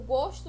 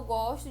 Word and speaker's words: gosto: Eu gosto de frutas cítricas. Também é homógrafa. Se escreve da mesma forma, só que a pronúncia de o gosto e eu gosto é de forma diferente, né?